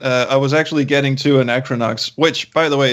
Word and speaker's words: Anachronox: which by the way it's a hard word to pronounce this English is your second language thank you yeah I can't count the number of times people said Anna chronixx to me but oh oh [